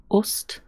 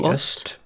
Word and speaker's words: ost: Ost? Yes. As in east? No. No. That would be öst. So ost. Öst. Yes. Ost. East is öst.